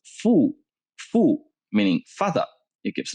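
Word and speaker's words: 父: close look at this the upper part is pronounced fu fu meaning fatha it gives meaning to ba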